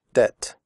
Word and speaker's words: debt: In the word debt, the b is silent. We do not say debt. We say debt.